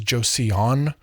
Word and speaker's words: Joseon: It's often romanized as Joseon, but it's really Joseon, like Joe's son from one of the little pronunciation videos I found on YouTube to help me say that correctly.